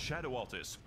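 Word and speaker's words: Scadu Altus: and radiant landscape of scadu SCU it's pronounced Shadow alus a beautiful domain of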